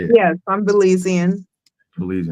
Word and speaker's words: Belizean: Yes, I'm Belizean.